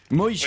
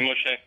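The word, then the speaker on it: Moché: C'est Moshé. Moïché. Oui, c'est Moshé. Ah bah c'est écrit. Oui, mais c'est francisé, c'est écrit avec un C.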